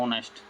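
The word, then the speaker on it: honest: ही is looking for ऑनेस्ट friend. देखो इसमें भी वो आया है ऑनेस्ट। प्रोनाउंसिएशन आपको देखने पड़ेंगे इनके। ऑनेस्ट तो ओ आ रहा है, ओ यानी एन आ जाएगा।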